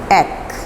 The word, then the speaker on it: ache: The correct pronunciation of this word is not h. H नहीं है, ache.